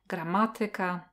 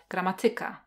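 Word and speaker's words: gramatyka: Or when it comes to the word stress, there is a rule that some words have the word stressed on the third syllable from the end or on the fourth syllable, like grammatica, grammatica.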